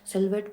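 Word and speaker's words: silhouette: वो होता है सिलवेट सिलवेट प्रोनाउंस करते हैं सिलवेट लेकिन उसकी जो स्पेलिंग होती है उसमें एच आता है एच साइलेंट होता है तो उसकी स्पेलिंग होती है एस आई एल एच ओ यू E double D ई सिल्वेट बोलते हैं हम इसे सिल्वेट क्या होता है बहुत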